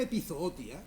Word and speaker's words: epizootia: es episodio la palabra epizootia se pronuncia como la estoy pronunciando yo como una palabra llana haciendo recaer el acento en la segunda o se escribe sin tilde